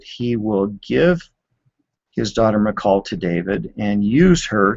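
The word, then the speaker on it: Michal: 20 saul's daughter nicole there are several different pronunciations for it but that's sort of the traditional english version saul's daughter mccall fell in love with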